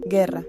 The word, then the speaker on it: guerra: Cuando no lleva diéresis, la U permanece muda. Por ejemplo, guerra, que se pronuncia ge, ra.